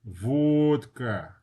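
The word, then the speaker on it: водка: And then our favorite word, vodka. Vodka. Vodka. Okay. V. Here's a good example of a stressed O. Vodka. All right. It's not vodka, it's vodka.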